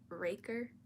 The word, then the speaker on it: Riker: Also, I looked up how to say his name, and apparently it's Raker, like Ray, and then it's a weird pronunciation, but I'm gonna stick with Riker, because knowing my brain, I will not remember that.